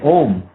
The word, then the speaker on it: Om: When you say Om, it's actually made of 3 letters, A-U-M.